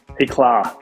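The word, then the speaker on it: Éclat: Is that how you pronounce it, Éclà? Éclà. Éclà, like a little, like Target, a little bit. Like it means, yes, it's be brilliant in French.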